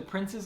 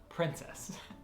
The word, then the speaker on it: Princes: trip out to the prince's Islands that's princes not princess I'm pronounced at princess Islands until we went there if you have